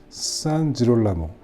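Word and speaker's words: San Girolamo: 원래 맞는 발음은 산지롤라모 이게 맞는 이탈리아 발음이고요.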